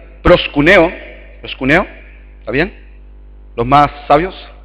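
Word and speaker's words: προσκυνέω: palabra griega que significa eh en griego se pronuncia prosc kune pros cuneo está bien los más sabios pros cuneo y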